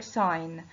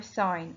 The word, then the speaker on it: sign: again trace mark or sign mark or sign and the g is silent in sign mark or sign and